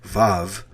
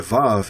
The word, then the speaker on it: Vav: Most scholars agree that the ancient pronunciation of the letter was more like a W and less like the V. So when you go back here, instead of it saying Va, it would say Wa.